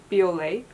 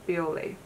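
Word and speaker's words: Bioré: The first, I want to start with these two, which I feel like this build in Japan, they were pronounced Biore. So let's just call this brand Biore.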